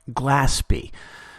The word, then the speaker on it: Glaspie: need to correct myself her name is more properly pronounced Glaspie back to the text